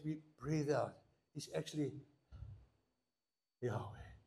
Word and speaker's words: Yahweh: put in the Hebrew, under the first H, they've put a line, that's an A, and under the Vav, they put a little dot, which is an E. That's where we get Yahweh to pronounce it.